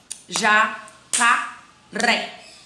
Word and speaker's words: jacaré: E aí eu tenho jacaré. Vamos separar a sílaba, vamos separar a palavra em sílaba. Jacaré. Ok, cadê minha sílaba tônica? Jacaré é o ré. Então, a sílaba tônica aí é a última.